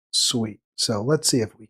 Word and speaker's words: Sweatte: She spells her name Sweatte. I wouldn't have thought that was Sweet, but apparently that's how she knows how she pronounces her name. She pronounces it Sweet.